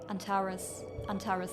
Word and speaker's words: Antares: Antares, that's how you pronounce it.